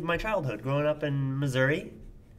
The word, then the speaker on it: Missouri: childhood growing up in Missouri Missouri well no it's pronounced Missouri I grew up in